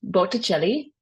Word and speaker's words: Botticelli: um for October Sandro belli um so it's pronounced belli he's an Italian Renaissance painter um he's actually